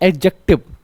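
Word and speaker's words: adjective: कभी भी ए और जी के बीच में ए और जे के बीच वाले अक्षर को डी को नहीं पढ़ा जाता है। यह साइलेंट रहता है।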